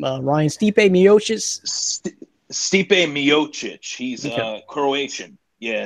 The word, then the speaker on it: Stipe Miocic: How do you pronounce this guy's name? Ryan Stipe Miocic. Stipe Miocic.